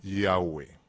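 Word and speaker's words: Yahweh: por parte de los estudiosos entonces se debe pronunciar al original yagüe este nombre nunca se debe tomar a la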